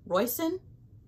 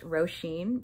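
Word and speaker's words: Róisín: can't say this name Royston Royston Watson something like that what's up it's editing me uh apparently Google says it's pronounced roshin because it's Irish and uh my Irish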